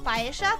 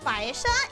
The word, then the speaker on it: paella: So you either had a bowl with a spoon for like paella, for example. Sorry, Joshua, that I pronounce it paella instead of paella. But yeah, paella.